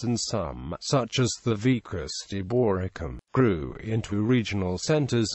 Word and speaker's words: vicus: some such as the vus deorum grew into Regional centers and even provincial capitals modern place names the Latin term pronounced with an initial you was adopted into Old